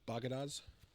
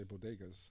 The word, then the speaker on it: bodegas: She didn't know how to say bodegas, but she called them bagadas.